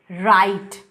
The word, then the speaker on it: write: बाद यूज़ होते हैं, जैसे राइट। तो राइट वर्ड में WRITE जहाँ पे W साइलेंट है, तो पोस्ट एल्वियोलर में सिर्फ एक ही स्पीच साउंड आएगा।